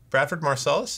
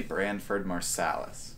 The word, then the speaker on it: Branford Marsalis: ringing hold on hello bradford marcellus yeah we'll we'll turn with you his name's actually branford marsalis josh got his name wrong words is hard